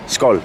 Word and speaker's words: skål: Or what do you say before Skål. you do? Skål. Yeah. Skål. Actually, it derives from. Some people say it derives from skull. Skål.